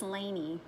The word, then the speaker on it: Laini: Is that how you say it? Oh, Leonie? I didn't say- I think it's Laini.